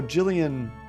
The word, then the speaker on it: Gillian: Although Gillian, they also spell with the G as well when you pronounce it like that. It is hard G, okay.